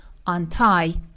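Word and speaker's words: untie: آنتای آنتای آنتای آنتای و دقتم داشته باشیم که استرس کلمه روی حرف تی هست یعنی این حرف با شدت بیشتری تلفظ میشه به این صورت آنتای مثال او طنابا و ربانها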